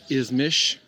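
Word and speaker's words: İzmir: I am in Ismish. It's spelled as our English would have it ismir, but they pronounce it ismish.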